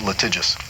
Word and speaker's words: litigious: You pronounce it litigious.